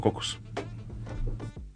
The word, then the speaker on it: Caucus: Nos escuchamos en el próximo Cocus. Cocus. Se escribe Caucus, Pero se escucha en Uniradio 99.7 FM.